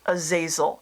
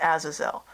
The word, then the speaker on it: Azazel: that movie with Denzel Washington fallen and they pronounce it a zazil and it makes me crazy because it is not how you pronounce that Demon's name it's Azazel and they pronounce it aasil and this makes you angry it drives me